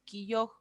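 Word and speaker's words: 기역: Aquí, esta vocal, perdón, esta consonante que tenemos acá, se llama quilloj, así como esta, quilloj. La última acá no la pronuncian muy fuerte.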